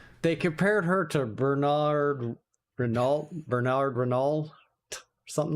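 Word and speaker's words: Hinault: compared her to Bernard Renaol. Bernard Renaol something like that. No way. Okay, give me one more time. Who? Isn't it Bernard? Okay, no. You don't pronounce the H. Not Han.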